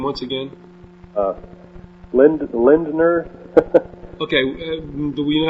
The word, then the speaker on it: Lindner: All right, would you uh pronounce that name once again? Uh Lind- Lindner.